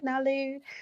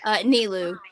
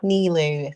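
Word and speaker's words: Nilou: You'll be voicing, is it Nalu? Nilu. Nilu.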